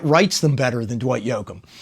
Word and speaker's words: Yoakam: them better than Dwight yokam or uh to say it phonetically Yoakam yeah Dwight Yoakam yeah